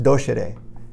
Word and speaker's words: docere: So the word doctor comes from the Latin word, which is pronounced docere.